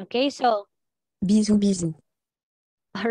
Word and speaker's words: bisou: Bisou, bisou. All right. So did you hear that, guys? Yep. Bisou, bisou. Yeah, so it is read as bisou.